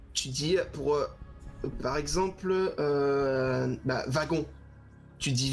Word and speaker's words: wagon: Tu dis V, wagon comme si tu prononçais un V, pas ouais. comme un W. Oui, c'est vrai. Tu dis pas wagon. Oui, oui, c'est vrai, c'est vrai. Donc, en Alsace, ils prononcent les W en V.